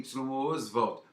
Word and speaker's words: Oswald: sempre foi com y osval osval apesar do Oswald de Andrade exigir essa pronúncia mas normalmente nos cartórios